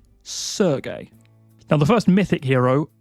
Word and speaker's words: Sergei: And this is a Slavic name, and it is pronounced Sergei. Sergei.